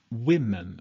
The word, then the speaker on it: women: to an E but what you change when you pronounce the word is woman becomes women okay so you change that actually you change um the sound of the O woman to women one person becomes two